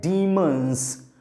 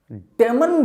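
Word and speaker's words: demons: Okay, तीसरे number पर word आता है बच्चों, इसका प्रोनाउंसिएशन ध्यान रखिएगा, इसे कहा जाता है डीमंस। डेमन भी बोल सकते हैं बट the real pronunciation is डीमंस।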